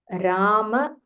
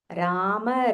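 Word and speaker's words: राम: Rama, Rama, Mahabaho. Rama, Rama, Mahabaho. In Hindi, Ma will be pronounced as Ram, Ram, Ram. But here in Sanskritam, we have to say the full Ma.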